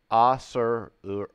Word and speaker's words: Acererak: So, Acererak. Acererak. So, Acererak. So, there's another syllable. So, it's four syllables.